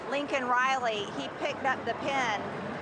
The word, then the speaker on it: Laken Riley: at him and I said, "Say her name, Laken Riley," he picked up the pen and he had it right there. It's easy to read, Laken, but he said Laken Riley.